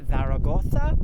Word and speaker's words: Zaragoza: We've still got another 5 hours to go, which is hopefully going to mean that when we get past Zaragoza, I think is how you say it, Zaragoza, that the weather starts to change to be a lot more cooler.